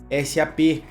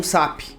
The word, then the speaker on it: SAP: Importante mencionar que isso faz a pronúncia correta ser SAP e não SAP, mas pode chamar do jeito que quiser, ok?